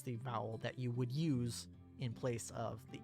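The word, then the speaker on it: う: This is U, or U. It is the equivalent of the vowel U in English. You pronounce this as U. U is a short vowel.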